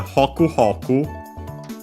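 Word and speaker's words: ほくほく: While hoku hoku, it's the accent on the first mora, yeah, like these onomatopoeias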